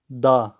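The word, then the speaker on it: dağ: بعدها دا اللي هو الجبل، دا الجبل، دا دا. اليوم شاقة يا أما ما تلفظها أو تلفظها غين خفيفة، دا دا الجبل.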